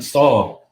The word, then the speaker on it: Saul: I said Saul like King Saul.